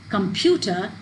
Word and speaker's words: computer: word is pronounced as computer so this syllable pew is much louder it is much longer and there is a change in pitch so when you pronounce